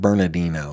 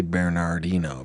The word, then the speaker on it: Bernardino: The San Bernardino, they pronounce it Bernardino. It's really Bernardino, but it doesn't matter.